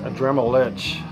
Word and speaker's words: Adramalech: twist to it and i think it's pronounced a dremel lich kind of like a dremel itch um this band sounds a lot like a dremelich and uh demigod good